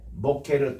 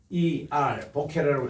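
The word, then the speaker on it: בוקר: 베이스, 그래서 모케르 토브인데 BOQER 보케르라고 읽어요. 그리고 토브는 TOV라고 읽습니다.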